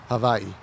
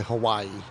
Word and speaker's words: Hawaii: a board of directors in the state of Havi for a couple years when I was stationed out there with the Navy is that how it it's properly pronounced Havi yes uh most people will say Hawaii yeah cuz that's just the generic uh I'll